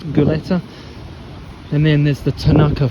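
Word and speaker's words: Gulati: There is also the Hunt formula, the Goleta, I think it's pronounced Goleta, and then there's the Tanaka formula as well.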